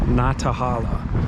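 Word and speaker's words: Nantahala: leaving what i'm hurt what i've heard is pronounced na tahala natahala general store um bought some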